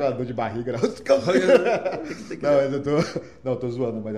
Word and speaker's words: Hans Kelsen: Um evento, eu perguntei, Tati, como é que se pronuncia o Hans Kelsen? É Hans Kelsen ou Hans Kelsen? Nenhum dos dois. Hans Kelsen.